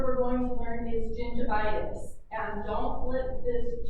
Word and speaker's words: gingivitis: But with those vowels, you know that I actually makes an E sound. Gingivitis.